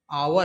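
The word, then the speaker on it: hour: वी हैड to wait for आवर है। इसको क्या पढ़ते हैं? आवर पढ़ते हैं। एच साइलेंट होता है।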